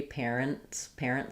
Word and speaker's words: parents: I'm going to have the T is going to be a little bit muted or silent because of the rule of three. Parents. It's going to sound pretty much the same as an NS.